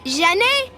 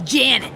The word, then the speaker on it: Janet: could help her chances excuse me janae can we get a table for duke it's janet oh the traditional american pronunciation she must be new